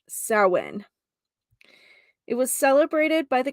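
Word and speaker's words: Samhain: back to the ancient Festival of sowin um if you if you happen to read this in my blog or see this word even by Googling it's s-a-m-h-a-i-n but it is pronounced sowin it was celebrated by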